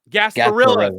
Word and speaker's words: Gasparilla: Gasparilla.